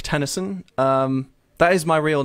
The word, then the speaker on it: Tenneson: that I've picked uh last name is like tenis and the poet except it's spelled with an e instead of a y anyway um the EP